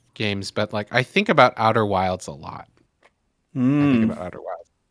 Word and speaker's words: Outer Wilds: Outer Wilds.